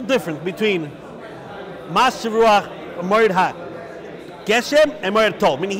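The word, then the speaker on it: גשם: So he feels that the proper way is to say tol and Geshem, which seems like a contradiction. If it's tol, it should be Gushem. If it's Geshem, it should be tal.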